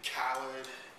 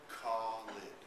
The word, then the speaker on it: Khalid: For the throughout my many years, of course, I've developed a thick skin. People have called me Khalid, Khalid, Khalid. But for the English speakers, the correct pronunciation would be Khalid. Khalid. For those who can speak Arabic, Spanish, Hindi, French, in their languages, the kh sound is part of the alphabet. So the real correct pronunciation is Khalid. But Khalid would be just fine.